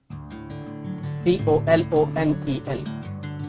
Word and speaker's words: colonel: Next word is COLONEL. What will be the pronunciation of this word? Colonel? Exactly wrong. The correct pronunciation is colonel.